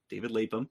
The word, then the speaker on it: Lapham: David Lapham. There we go. I keep pronouncing it Lapham, but it's Lapham, who we talked about in the last episode.